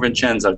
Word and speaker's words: Vincenzo: Vincenzo or Vincenzo? Tell me. Hi, teacher. The correct pronunciation is Vincenzo. Vincenzo.